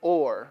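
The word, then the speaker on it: אור: for light it's the the Hebrew word is ore you know so we would you know pronounce it like you were going to pronounce you know like a mineral ore right uh three letters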